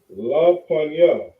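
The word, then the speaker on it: לפני: on all board so the word for before in the hebrew is pronounced la panya all right when we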